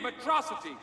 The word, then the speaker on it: Metro City: This is a day you and Metrocity shall not soon forget. It's pronounced Metro City.